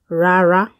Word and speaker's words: Rárá: No is rara. Ra, ra, rara.